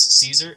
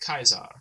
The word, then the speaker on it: Caesar: For example, all C's will be hard, all AE or ash characters will be pronounced as a Y, usually.